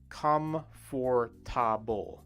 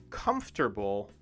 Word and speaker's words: comfortable: uncomfortable all right so the word uncomfortable or the word comfortable are is a tricky word for japanese speakers of english to say correctly because the word is does not or is not spelled like it sounds right if you try to read the word like it's spelled you would read it as come for ta comfortable which is four sounds however comfortable only has three sounds when we say it so if i